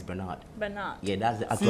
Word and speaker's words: Bernard: People say Bernard, but it's Bernard.